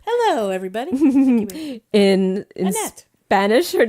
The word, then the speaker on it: Annette: In Germany, her name is Annette. Annette. Annette. Like the Mickey Mouse Club. Yes, Annette. just like Annette Funicello.